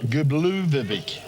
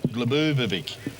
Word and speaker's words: Glubovic: Your mate and mine, Drago Gubluvovic. As David Dowd suggested, the pronunciation is Glubovic.